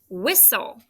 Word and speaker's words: whistle: Did you remember it's WHIS? Good, it's closed. And this is that STLE soul sound.